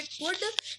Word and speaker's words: could: बात यह है कि कुड में एल जो है वो साइलेंट रहता है, तो आपको इस बात का ख्याल रखना है। कुड को पढ़ते वक्त एल साइलेंट रहेगा, लेकिन लिखते वक्त एल काम करेगा।